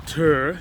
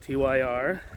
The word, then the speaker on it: TYR: But I said, hey, it's TYR, named after the Norse god of war, not TYR. Oh yeah, look. You see? I know they spell it all caps, but it's TYR.